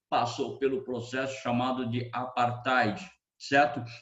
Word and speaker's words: apartheid: O próximo exercício fala ainda a respeito do apartheid, ou apartheid, como alguns comumente pronunciam.